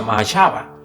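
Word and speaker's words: מחשבה: pensamiento, esa es la palabra hebrea que se pronuncia mahashava, que se refiere a sus planes y propósitos y razonamiento.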